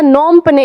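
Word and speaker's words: Phnom Penh: नोम पने, इसमें PH आपका साइलेंट हो जाता है, नोम पने।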